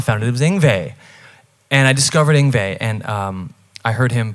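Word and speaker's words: Yngwie: it until i heard an interview how you pronounce it i was calling him injury until i found it and i discovered inva and um i heard him playing a song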